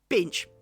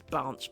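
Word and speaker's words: Binche: worse let's go with binch I still don't know how you pronounce it but I call it binch b i n c h e binch right I think it's bnch but whatever right cuz instead of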